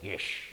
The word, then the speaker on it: Gish: Dr. Gish. Rhymes with fish.